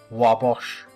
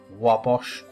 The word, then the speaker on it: Wabash: of the venue as Wabash, even though it's fictional. The setting is in Chicago and anyone in the region would know that it is named for the Wabash River, which is pronounced Wabash apparently.